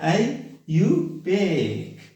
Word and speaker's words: IUPAC: अब इसका आयुपेक system पढ़े, आयुपेक, okay, आयुपेक, that is the pronunciation of आयुपेक system.